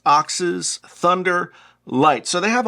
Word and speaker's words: OXS: uh quality well-made oxes it's pronounced oxes thunder light so they